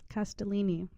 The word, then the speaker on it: Castellini: do you say your last name at Bellini Castellini and you're in New York correct I